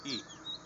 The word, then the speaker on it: い: যেমনটা বললাম, এর উচ্চারণ অনেকটা ই।